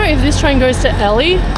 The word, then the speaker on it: Ely: Do you know if this train goes to Ellie? I Yeah. Yeah, this is the one. Okay, thank you. Okay, we found it. I pronounced Elely.